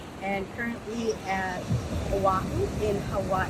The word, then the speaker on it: Hawaii: And currently at Oahu in Hawaii. That's how they say it, Hawaiian people, Hawaii.